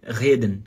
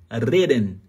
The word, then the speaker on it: reden: O grande problema é que quando essa letra R tá no começo da palavra, muito brasileiro pronuncia errado. Acaba pronunciando o R como se fosse o H em alemão.